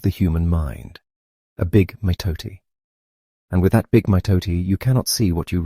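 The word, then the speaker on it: mitote: Your whole mind is a fog which the Tolteks called a mitoi pronounced m ih toe tai.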